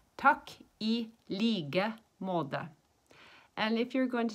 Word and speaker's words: takk i like måte: And when we say likewise, we don't say the K. We say it like a G. And when you say måte, we don't say the T. We say more of a D. So it's takk I like måte.